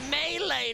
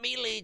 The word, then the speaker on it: melee: It's pronounced melee, not melee.